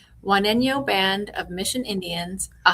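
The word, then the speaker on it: Juaneño: And would you help me make sure my my uh pronunciation is correct? You said Wano. Wano Band of Mission Indians, a Hatchiman nation.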